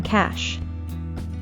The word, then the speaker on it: cash: Remember to curl your tongue up so it points upwards towards the roof of your mouth when pronouncing the SH sound in cash.